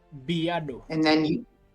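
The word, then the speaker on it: בְּיָדוֹ: So that means we give it a little bit of a bi, a little pronunciation, bi. Biado.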